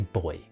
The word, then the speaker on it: buoy: Although I you know I do get to say boy which is always fun because it's one of those words which comes up rarely enough in everyday conversation that people don't realize there are different pronunciations between British and American English.